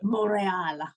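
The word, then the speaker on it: Montréal: But when the race gets to Canada, they talk about Montreal, not however the French-speaking Canadians would pronounce it. Montreal. Yeah, that's what they should be saying, but no, it's Montreal.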